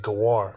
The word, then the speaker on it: Gawar: into the word for stranger, sojourner, and he pronounced it Gawar.